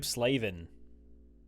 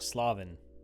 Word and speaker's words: Slavin: Hurricanes we've got Jacob slaven or slavin as it should be pronounced but you know Americans